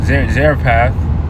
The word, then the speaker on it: Zarephath: Because he basically had he was commanded to go down to this one place, Zarephath.